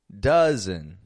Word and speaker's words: dozen: as a letter U spelled with an O pronounced with a u uh sort of sound words like Monday oven color dozen uh they're all getting an uh sound just a u uh but this spelling